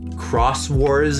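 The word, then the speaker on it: Xros Wars: six and seven were cross wars is how i think you say it they spell it x-rose they do that in japan a lot they have like x's and you say it cross or something um that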